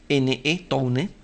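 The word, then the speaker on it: Towne: Se escribe Tone con T-O-W-N-E, Tone, ¿no?, que es una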